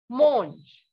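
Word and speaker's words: mangue: mango in french is monge what is it monge okay the sound of a n in french is o so mango is monge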